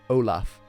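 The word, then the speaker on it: Amlaíb: which looks Irish but how do you pronounce that Olaf it's Olaf Curran and Quran means shoe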